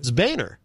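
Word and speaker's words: Boehner: Coburn yes what's this like how do you pronounce boah NER is this one of those uh Three Stooges no Bainer according to John Bainer but it looks like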